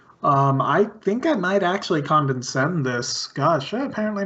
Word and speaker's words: Condescend: It's Condescend, not Condense. Condescend.